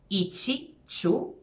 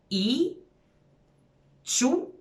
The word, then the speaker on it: ići ću: like I will go, ići ću, if it comes first, a lot of the times the native speakers will lose the entire ending ći. So literally, you would pronounce I, ću, wherever.